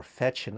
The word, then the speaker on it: Fechin: And one of uh those artists who been on verge of realism and impressionism was Nicolai Fechin or Fechin as they pronounce it here because it's a French transliteration.